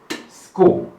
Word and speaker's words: school: Now, please note in the case of the word school, school does not have the letter K in it. In fact, the CH that appears inside school has its own sounds as consonant. But remember, the CH there actually gives the K sound.